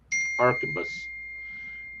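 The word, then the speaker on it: arquebus: never say this right, Arcupus. And I had to look that up, that Q and U and all that combination sounds like a K. Archabus.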